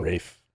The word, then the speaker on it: Ralph Fiennes: Ralph Fiennes is Benicio del Toro. Rafe. Sorry. Rafe? I think that's how you pronounce his name. Oh, I always want to say Ralph.